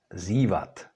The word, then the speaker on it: zívat: So in contrast to d, t, n, when c, s, z are followed by měkké i, they do not change.